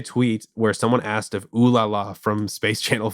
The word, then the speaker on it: Ulala: Yeah, I didn't actually know who Yulala, is that how you pronounce it? Ooh La La.